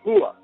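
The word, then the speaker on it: هو: eh referido a Dios se dice hua pronunciado con no como Hache aspirada sino con lo más profundo de de la garganta cerca del esternón eh eso pronunciado con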